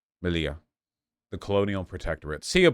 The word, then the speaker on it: Melilla: It's pronounced Melilla. Melilla.